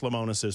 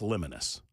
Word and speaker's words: Lemonis: am aware of Marcus lemonis's past I think I'm pronouncing his last name correctly I certainly hope I'm doing so I don't think it's lonus I think it would be Lemonis Marcus is the CEO